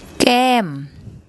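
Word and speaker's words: แก้ม: What we have here is the Gorgai initial consonant again, the Sara air, which makes an air sound, and the final consonant is the M consonant, more ma, and we see a tone mark.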